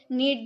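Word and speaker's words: knead: आप बोल सकते हो नीड the dough. नीड the dough. इसे हम डो बोलेंगे। ठीक है? नीड the dough. यहां पर केस साइलेंट होता है। इसीलिए हम इसे नीड प्रोनाउंस करते हैं।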